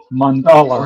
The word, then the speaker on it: mandala: Is it said the same as like Nelson Mandela? Or Mandala, is it like not or is it Mandela. pronounced Mandala. Mandala.